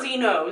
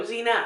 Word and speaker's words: Xena: All I know is that she's an Amazonian warrior princess, like Xena. Much like Xena. Oh, yeah, you could probably say that Zeno is based a lot off of her. Not Zeno, Xena.